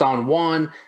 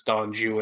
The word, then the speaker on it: Don Juan: people think it's pronounced on one which you would think but actually the rhyme scheme of the poem itself suggests that it's don joo and for whatever reason